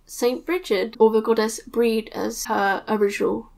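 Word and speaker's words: Brigid: So a lot of Christo-Pagans choose to work with Saint Bridget, or the goddess Breed as her original pronunciation.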